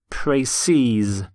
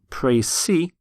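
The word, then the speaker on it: précis: in fact spelt exactly the same but it's pronounced praces so you have one pre-c and two praces for example a preci of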